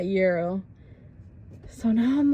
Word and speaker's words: gyro: and they were like, it's gyro, not gyro.